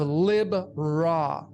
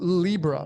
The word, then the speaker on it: Libra: You have Lib Ra. People call it Libra, but it's pronunciate Lib Ra.